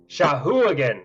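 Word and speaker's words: Sahuagin: That's enough to recognize that this creature is, and I'm probably going to mispronounce this, Shagwin? Here, I'll okay. Shahuagan. Apparently, that's how Matt Mercer pronounced it.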